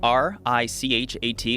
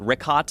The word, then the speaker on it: Richat: Yeah, in the first couple, I just want to say it's Richat. I used to call it Ricot. I was mispronouncing it.